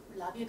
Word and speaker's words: lobby: 라비에 가니? Do you go to the lobby? Do you go to the lobby? Do you go to the lobby? 라비에 가니? 우리는 로비에 가니 이렇게 하죠. 근데 라로 해요.